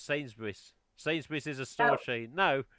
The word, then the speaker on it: Sainsbury's: shane no no okay the story behind that is i thought the shop was called salisbury like oh okay so he was yeah that was asking ah now it makes sense yeah yeah i did was not pronouncing it right okay i've got you